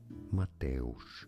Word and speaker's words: Mateusz: A name of Polish origin. Mateusz. Mateusz. Mateusz. Mateusz. Is how it is said in Polish.